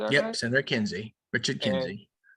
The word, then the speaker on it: Kinsey: And during the episode 20 politics, it goes into how there's this senator, I want to say his name's Kenzie. Is that right? Yep. Senator Kinsey.